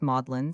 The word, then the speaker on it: Magdalene: Magdalene College pronounced Mlin stands on the west bank of the Cam near the great bridge in 1428.